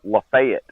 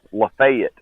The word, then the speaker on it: Lafayette: town where it's pronounced Lafayette. Lafayette? No, they don't say. No, we don't do that French nonsense around here. It's Lafayette.